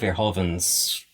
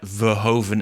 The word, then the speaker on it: Verhoeven: I also quite like that I just said Verhoeven instead of Verhoeven, which is the way we pronounce it, as a sort